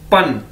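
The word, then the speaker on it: ban: हमारे पास ये देखें, पहला वर्ड है बी ए एन, पन। बी को हमें पता है हम पी की तरह प्रोनाउंस करते हैं, पे की तरह, तो ये क्या है? पन, पन, पन।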